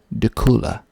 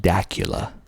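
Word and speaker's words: Dacula: and another one that people like to uh mispronounce tekula spelled d-a-c-u-l-a de kula i used to think it was pronounced dakula because it sort of looks like dracula without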